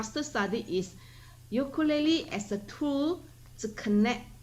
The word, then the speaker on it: ukulele: debates over the pronunciation the correct debate of the hawaiian word is ukulele in the english version of the word is ukulele and it's okay to it's okay it's okay to treat that word as an